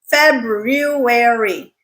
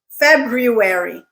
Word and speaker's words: February: There is an R in there in the middle. It's not silent, so make sure you pronounce it. February, February, February.